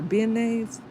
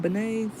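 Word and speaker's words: beignets: Are they banay or benise? I don't know how to say that. I never knew how to say that. Are they bananas? That's how you say it. Banay.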